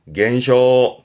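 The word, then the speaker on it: 減少: 발음은 겐쇼 겐쇼 항상 잊지 마요.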